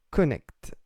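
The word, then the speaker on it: Knecht: Mais les Américains prononcent bien connect.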